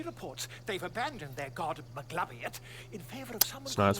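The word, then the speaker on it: Maglubiyet: very camp she reports they've abandoned their god mcgladiot in favor of someone that's pronounced the absolute the scandal it's pronounced maglubietz actually goblin superstition don't worry about it but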